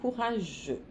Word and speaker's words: courageux: Courageuse, au féminin, courageux. Aqui o X não se pronuncia.